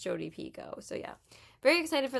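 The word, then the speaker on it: Picoult: Jodie Pico, actually, that's how you say her name, not Jodie Pult.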